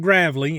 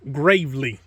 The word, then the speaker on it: Gravely: see right there Gravely it's not it's not pronounced Gravely it's pronounced Gravely it is a Pro turn 452 which means